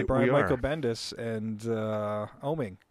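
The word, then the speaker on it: Oeming: ages book by Brian Michael Bendis and uh oming oming yeah oming that's how you pronounce his last name yeah the book is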